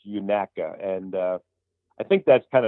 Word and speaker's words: Unaka: A local told us if you want to sound like a local, it's Unaka.